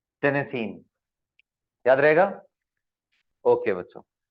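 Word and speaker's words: Tennessine: File कैसे pronounce कर रहे हैं इसको? टेनेसीन।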